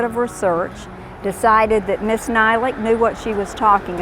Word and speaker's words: Nylic: Nylic is spelled N-Y-L-I-C.